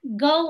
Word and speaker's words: Go: Itu nama terakhirnya Go udah betul belum pronunciation saya? Betul.